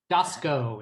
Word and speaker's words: Dowski: uh photographer Jade uh dasco is how she pronounces dasco dasco uh right she